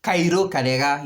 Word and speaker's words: Karega: Not Cairo Karega. Cairo Karega. Yes, that's how it's supposed to be pronounced.